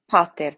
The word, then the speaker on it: pater: So on the A of pater, the O of noster, and the Q and the U of qui.